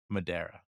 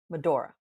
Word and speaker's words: Medora: town what do we want to do in Madera Medora Medora um okay during the break there I mispronounced it five times did the first half